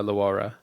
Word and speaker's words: LaWayra: la la la it's I like to say it's LA and then why and then ra yeah when did uh